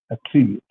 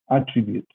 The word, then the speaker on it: attribute: In this case, when it is a verb, the stress goes in the second syllable, attribute. And in the noun, we say attribute, right?